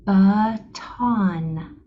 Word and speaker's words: baton: sounds are ba uh baton baton on this word the accent is on this part of the word baton you say the second syllable with more strength and emphasis than the first okay let's go ahead